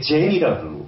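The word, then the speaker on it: Zen: 그래서 그 사람들은 선이라는 말을 중국식의 발음도 아닌 일본식의 젠이라고 받아들이는 거예요. 선은 그냥 젠인 거예요.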